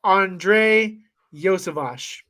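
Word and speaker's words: Andrei Iosivas: It is Andre Yosevash. That's how I'm going to pronounce it. I'm pretty sure that's how the home announcer pronounces it at all the Princeton games.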